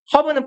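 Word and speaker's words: herb: 했는데 오늘하고도 읽어요 예 h가 묵음 그러면 특정한 허브는 풀떼기에요 풀떼기들은 썸하우 부사로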